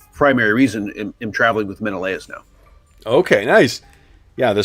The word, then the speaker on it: Menelaus: we got together, but I will say it's Menelaus. Is that how you say it? Yep, Menelaus.